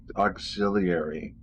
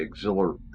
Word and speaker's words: auxiliary: online and see now i say that wrong she she said it right auxiliary i just say exhilar exhilarate i think i do yeah i don't think i say auxiliary which is how it's spelled it has an eye in there stay vigilant we say jewelry